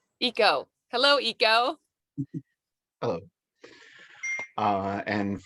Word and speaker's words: Ico: oh hello hello uh and it's pronounced eco eco hello eco hello uh and for i'm really